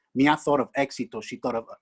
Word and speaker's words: éxito: page 151, it goes, éxito, mía thought. Éxito was a great word for success. Éxito sounds like exit in English. Mía thought of éxito.